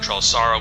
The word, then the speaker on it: Trelasara: Trelasara, I think that's how you pronounce it, not Trelasara, but Trelasara.